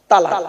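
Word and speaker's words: طلاق: একটা শব্দ বলে কি শব্দ বলেন তো বাবা তালাক বলে না বলুন আরে বউ যাবে না ভয় নেই আমি আছি এখানে চিন্তা নেই বউ এনে দেবো আবার কি বলেন তালাক তাইতো খবরদার ওটা বলবে না তালাক নয় শব্দটা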